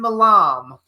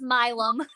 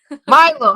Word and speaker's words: Milam: with Ron Russell actress director writer malam and how do you pronounce it is that right it's milum milum all right milum and she's 18